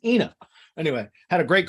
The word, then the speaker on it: Ina: my call with ina it's inna but i had to ask her like how to pronounce it because i was you know my ignorant american ass i was like is it aina inna she's like it's ina anyway had a great